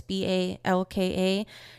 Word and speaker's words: Balka: I believe her last name is pronounced Balka. It's Balka. She's a writer and a